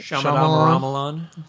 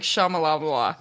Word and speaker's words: Shyamalan: Shyamalan. Why? How did you think I was going to say it? No, because in my head I always say it like Shamalabla. Shyamalan.